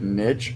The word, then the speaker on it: niche: of like finding your is it Niche or Niche right Niche yes yes I think it's actually Niche I think you're probably